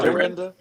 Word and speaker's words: Dorinda: How you pronounce her name? What Oh, you Dorinda. Dorinda. Dorita.